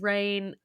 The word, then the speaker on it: Raihn: So I was pronouncing it as Rain because I Mm. thought it sounded better, and then It to does. find out that it actually is Rain kinda takes him down